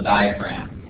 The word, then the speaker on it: diaphragm: Down here at the bottom, we've got this umbrella-shaped muscle that's called the diaphragm. Actually, the G is silent. It's called the diaphragm.